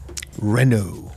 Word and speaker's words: Renault: And could you RENAULT?